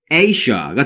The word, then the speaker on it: Asia: 우리가 보통 이제 아시아라고 발음하잖아요. 근데 이게 틀린 발음인 거죠. 지금 발음 기호상에 보고 계신 것처럼 A로 표시되어 있지 않고 지금 EI로 표시되어 있잖아요. 당연히 우리가 이걸 A라고 발음해야 한다는 거고, 뒤에는 이제 우리가 발음할 때 라고 발음하셔서 Asia라고 발음하시면 된다는 걸 기억해 주세요.